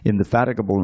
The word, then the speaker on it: indefatigable: Seeing Bali Mahārāja's indefatigable, that's how you pronounce it, indefatigable endeavor, and understanding his motive, King Indra, along with the other demigods, approached his spiritual master, Bṛhaspati, and spoke as follows.